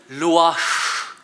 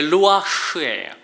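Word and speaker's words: רוח: 이게 히브리 말로는 루아흐, 이 히브리어 루아흐를 발음하려면 자연스럽게 숨을 쉬게 됩니다. 이게 루아흐예요.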